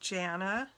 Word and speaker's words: Janna: My name is pronounced Janna, but I get all kinds of pronunciations of it, or people add a T on the end or whatever.